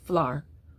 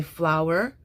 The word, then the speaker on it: flour: So my conclusion, my take on this is I will teach this as 1 syllable, flour, R. But if people want to say flower, our, in carefully articulated speech, or sometimes for emphasis, okay, then do so.